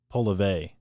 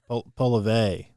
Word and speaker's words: Poilievre: I heard him pronounce his name earlier, and I want to say it was Poilievre. Poilievre. Something like that, where he kind of Frenched it.